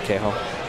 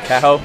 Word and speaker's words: Kaho: I don't know why I said Kaho. Kaho, that's how it's pronounced.